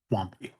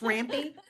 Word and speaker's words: Rampy: Have a motion by Commissioner Smith to close and flag case number 31, seconded by Commissioner Wampy. Am I saying it wrong? Yes, Rampy.